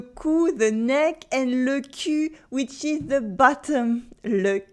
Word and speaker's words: cul: The trick to pronouncing the U starts with the sound I. You start with the sound I, and you push your lips forward, U, to say U, U, I, U, I, U, I, U.